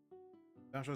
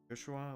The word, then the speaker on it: Joshua: Joshua is pronounced with the J sound in the English version, but originally it's meant to be pronounced Joshua, like the German version of the name.